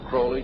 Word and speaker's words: Crowley: likes to be name pronounced Crowley to rhyme with holy and the statements today